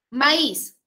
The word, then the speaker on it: maíz: la regla te dice maíz es una palabra o la mayor fuerza de voz recae en la última sílaba cuando debemos tildar las